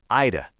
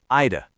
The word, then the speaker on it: I'd have: I'd have done it differently. Listen to that. Ida. Three words reduced to two tiny syllables. Ida.